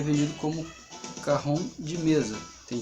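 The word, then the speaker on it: cajón: Se escreve Cajon, mas se pronuncia Cajon.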